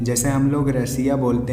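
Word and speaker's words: Россия: जैसे हम लोग रसिया बोलते हैं तो ये जो रसिया शब्द है ये अंग्रेजी है। रसियन भाषा में रसिया को रोसिया बोलते हैं।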